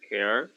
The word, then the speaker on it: care: pronounce this one then care okay care right care what happens here there is a silent e right if there is a silent e this sound should be pronounced as a e right because i already gave